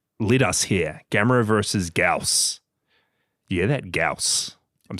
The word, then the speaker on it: Gyaos: Gamera versus Gaus.